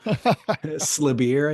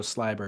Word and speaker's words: Sliber: Slebir, I think is what I said. Yeah. Alessandro Sliber.